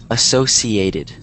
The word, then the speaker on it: associated: you pronounce it, but this word is pronounced associated. So it's kind of like... I said associated. Oh, okay, there you go. Yeah, so it's associated, not the sh.